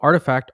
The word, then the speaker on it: RTFKT: was artifact um so artifact rtfkt is pronounced artifact i found that out